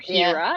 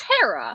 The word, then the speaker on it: Hera: It's not Hera, it's Hera.